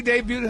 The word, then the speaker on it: debuted: Simone BS her she debuted her um new hair baby and she embraced she debuted her debut. That's a silent T, man.